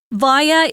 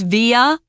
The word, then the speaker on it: via: And there are two very popular pronunciations of this word. One is via and one is via.